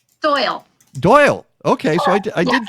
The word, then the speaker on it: Doyel: it pronounced doyle or doyel doyle doyle okay so i did get it right the first time we spell it a little funny it's spelled phonetically but it's still pronounced doyle okay and our our